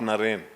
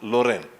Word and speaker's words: Naren: his guru boys would call him lorraine not naren because ramakrishna was pronouncing it as loren so they were calling him as lorraine such